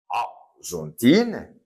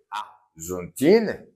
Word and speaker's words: Argentine: Oui, je dis Argentine, je ne prononce pas le E, Argentine, et je dis France.